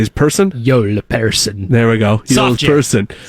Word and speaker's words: Joel Persson: Joel Persson.